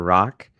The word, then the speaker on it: Rak: Rock. That is spelled R-A-K and pronounced R-O-C-K.